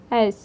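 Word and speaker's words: edge: Friends हमारा next word है एज। एज मतलब किनारा या छोर, इसमें डी साइलेंट होता है फ्रेंड्स।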